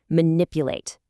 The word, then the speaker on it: manipulate: React, respond, manipulate. Notice how manipulate has four syllables, right? But that heavy stress falls right on that second syllable, nip.